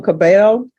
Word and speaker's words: Cabello: you Miss Cabello yes am I pronouncing your last name right yes thank you I'm always the double L's always throw me off Council have you